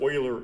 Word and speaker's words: Euler: and that's uh that's almost as bad offense as calling euler frederick oiler euler but anyway um yeah it